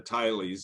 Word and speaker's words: Tiley: a descendant of the Tileys, and she pronounces it Tilly, but we've always heard the local people pronounce it Tiley, so take your choice.